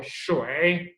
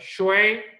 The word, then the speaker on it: 水: अब आप किसी पे भी क्लिक कर दो, आपको वो साउंड प्रोनाउंस करनी आनी चाहिए। अब ये क्या है, वे और श, क्या हो गया, शोए, देखिएगा पहला वर्ड शोए, 水， नेक्स्ट शोए, 水， शोए।